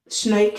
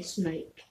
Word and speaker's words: snoek: Okay, I think then there is this one called Snoke, is spelled SNOERERK. No, SNOEK. Okay, Snoke.